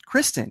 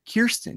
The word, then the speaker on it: Kristin: right Greg Alva mispronounce Kristin he said kirsten he spelled it as Kristin though but he kept saying it as Kirsten and I truly think